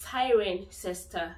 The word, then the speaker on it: Cirencester: Cirencester. Yes, that's the common exception. Cirencester is the common exception to the cester rule because you actually pronounce the cester.